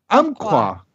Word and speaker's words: Umpqua: Is it Umpqua Valley Psychic and Media? Umpqua. It sounds like the noise that my cat makes sometimes, which has got a hairball in her throat.